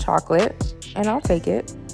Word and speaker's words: chocolat: All right, this next one is called Chocolate, and I'll take it. Not mad at it. The French pronunciation of chocolate is chocolat, but that's spelled different, and they spelled it just straight up chocolate.